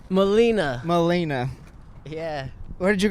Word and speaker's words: Molina: how do you say your last name Molina Molina yeah where did you grow up turning